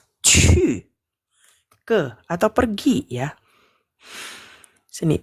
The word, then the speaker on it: 去: Untuk pinyin-nya itu pakai Ci ya. Jadi bukan bacanya Q lagi ini. Bacanya Ci ya. Terus ada U. Ada nada keempat. Cu.